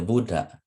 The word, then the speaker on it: Buddha: remember the vowels okay however when a short vowel at eight or o is followed by two or more consonants the syllable is pronounced long okay thus the Buddha the Buddha is spoken as a long syllable followed by a short one okay okay let me